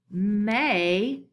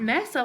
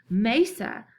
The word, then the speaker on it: mesa: And this pronunciation actually says mesa. So it's not mesa like I originally thought. I had to look up that pronunciation. It's actually mesa. So that E there actually sounds like a long A.